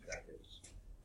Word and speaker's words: Natchitoches: Natchitoches. That's a strange thing. There's also a Natchitoches, Mississippi, I think, which is spelled even differently, but they're pronounced very similarly.